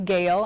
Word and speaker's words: Gael: My name is Gail, and that's spelled Gael, and then That's Daniel.